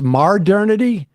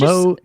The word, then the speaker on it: modernity: I'll let Modernity slide, but this Mardernity, malarkey's got that. It's Modernity. Just say modern in your head and then itty.